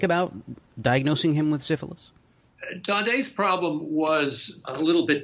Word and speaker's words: Daudet: So you say in the book that, how do you pronounce his name, Daudet? Daudet.